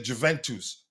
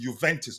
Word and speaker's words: Juventus: lot of people say Juventus. It was um what's his name? Uh ah the queen of the house a lady here in the chat that taught me it's pronounced Juventus not Juventus and I like it